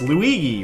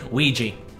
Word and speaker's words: Luigi: the bots could have been like oh it's Luigi right luigi weegee yeah yes fool me Luigi Wario that would